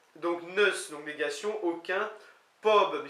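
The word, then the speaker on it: Pobl: Neus, donc négation, aucun, Pob, qui s'écrit P-O-B-L, mais qu'on dit Pob, semble-t-il le N ne se prononce pas pour peuple, Ken, donc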